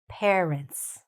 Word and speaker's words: parents: It's sometimes said as pa. But, we want to say what? Pair. Parents. Very good. Okay? And where's the stress? Here. Parents.